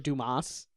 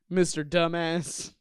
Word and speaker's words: Dumas: like that one commercial Mr Dumas Mr dumbass you know I'm your man Mr dumbass he's like it's pronounced Duma commercial yeah it was